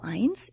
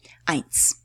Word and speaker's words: eins: Eins is how you, that's how you spell eins. EI combination, a diphthong. EI is always pronounced as "I" in German. Okay? Eins.